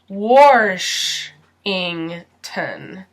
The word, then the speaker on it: Washington: taking this test in some people add and are here so it sounds like wash Eng ton Washington but most Americans say Washington Washington George Washington Alaska this